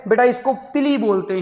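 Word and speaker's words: pili: Structure है, second वाली structure है बेटा, इसको पिली बोलते हैं। और बेटा इसकी स्पेलिंग होती है PILLI। इसको हम क्या बोलते हैं बेटा, पिली बोलते हैं।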